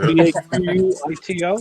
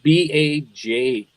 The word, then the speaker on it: Bajito: Is it Baquito? Is that how you spell it? What's that? Baquito? No, Bajito. The J. The J sound.